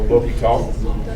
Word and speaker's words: l'hôpital: So I was told it's like l'hôpital. Does that seem about right? H is silent, so l'hôpital.